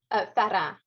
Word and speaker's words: Farand: We've been practicing it before we started, so I'm going with the English version. Natalie Farand, you say it. Yes, Farand.